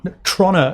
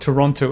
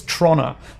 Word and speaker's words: Toronto: Toronto it's actually the correct pronunciation, not Toronto. It's Toronto.